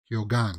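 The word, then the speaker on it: Keoghan: to Barry kigo kyogan kyogan right here again because he pronounces the g in it he does uh so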